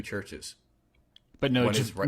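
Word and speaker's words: Chvrches: Do I say it Churches or do I say Jverches? No, it's just pronounced Churches.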